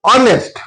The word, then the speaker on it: honest: Honest. Though honest begins with the written symbol H but it produces vowel sound at its beginning while we are pronouncing or while we are ordering.